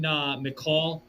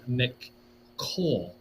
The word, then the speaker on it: McCaul: Folks, you can go to this website through foreignaffairs.house.gov, okay, where Chairman McCall, that's spelled McCaul, McCall, I think that's how you say his name.